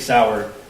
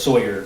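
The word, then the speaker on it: Sauer: he mentions the Sig sour he mispronounced sour as Sawyer which if you purchased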